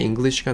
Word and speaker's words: English: 이 English 발음을 하려고 수도 없이 노력하지만 대화 중간에 English가 나오면 이 발음을 제대로 못하는 경우들이 있습니다. 이거 어떻게 하냐면요, English라고 해서 앞에 ing에다 굉장히 강세를 빡 주셔야 돼요. English 하고요.